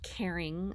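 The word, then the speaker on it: Karin: grossman cruelty free and it's pronounced caring i learned but i did try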